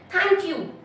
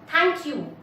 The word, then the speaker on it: thank you: Thank you. Thank you नहीं बोलते हम. Thank you. Thank is a strong syllable. You is a weak syllable.